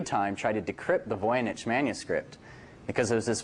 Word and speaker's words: Voynich: And the Voynich Manuscript, and that's pronounced Voynich, has been the subject of intense interest by cryptologists for a good 100 years or so.